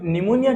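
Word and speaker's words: pneumonia: तो निमोनिया क्या होता है? यहां पर पीस साइलेंट है।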